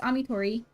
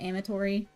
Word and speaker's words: Amitori: It's Amitori. Thank you for asking. A lot of people say Amitori. I think that's the only other way that people try to say it.